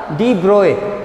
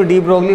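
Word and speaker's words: de Broglie: हाँ, ये अलग बात है, हम अपने डेली लैंग्वेज में इसको डी ब्रोगली बोलते हैं, आप भी डी ब्रोगली बोलें उससे कोई फर्क नहीं पड़ता, लेकिन एक्चुअल प्रोनाउंसिएशन क्या होता है, डी ब्रोए होता है।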